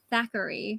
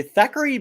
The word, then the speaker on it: Thackery: is it zachary or thackery because some people pronounce it thackery it's stackery daiquiri okay yeah yeah because you could hear bette miller say thackery binks yeah yeah oh oh wow i didn't